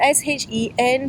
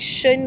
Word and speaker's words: Shen: inside wasn't quite fitting it's spelled s-h-e-n so be it like shin or Shen number one he didn't